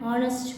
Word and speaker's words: honest: These are words which start with letter H, and in these words letter H is a silent letter.